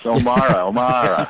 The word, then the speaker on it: O'Meara: Maybe they don't like it when it's O'Meara. It's O'Mara.